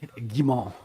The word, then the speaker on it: Gimon: Frederick Gimon. Yeah, that's very close. It's Frederick Gimmon.